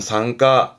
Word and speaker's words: 参加: 앞에게 참자라 이게 참가하는 발음은 상가 상가 뭘까요?